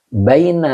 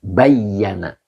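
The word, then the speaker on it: بَيَّنَ: Baina laha. Oh, bukan baina. Bukan baina. Kalau baina zorof ya. Jadi bukan baina. Bayyana fi'il madi.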